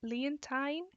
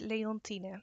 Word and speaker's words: Leontine: So when you're English and you're reading it, you're probably saying something like Leontine, but it's Leontine.